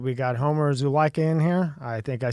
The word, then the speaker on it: Homer Zulaica: We got Homer Zulaica in here.